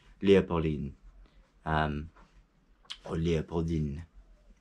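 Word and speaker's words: Léopoldine: called Lea Pauline or Leopold in making sure he pronounced the N at the end and she was obviously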